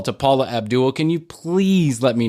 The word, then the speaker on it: Paula Abdul: She was in on the party line, but he can't even say her name right. He said Paul Abdul.